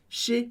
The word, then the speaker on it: chez: Chez moi. E chez, C-H-E-Z, a gente vai falar chez, porque o EZ do final sempre soa como E, significa outras coisas em diferentes contextos, mas aqui ele significa casa.